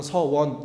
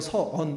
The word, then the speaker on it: 서원: 못하는 바람에 대해서 말씀드렸잖아요 서언 서원 물론 이제 정신 차리고 긴장해서 해봐 그러면 서원 이렇게 하지만 그 평범하게 얘기하면 서언 이렇게서 발음이 안 되네 이게 되는 거예요 여러분